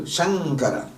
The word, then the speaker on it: Shankara: Sham and Kara, but then Ka, the nasal is Ka, Kha, Ga, Ga, Yang. So Shankara.